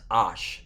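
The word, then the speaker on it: אש: 1948 website i mean of course they're mispronouncing the word fire it's ash not with the i there it's that it's a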